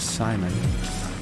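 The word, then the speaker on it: Psimon: Alright, Beast Boy and Raven appeared before the Titans during their battle with Simon. It's spelled P-S-I-M-O-N, as in psychic abilities.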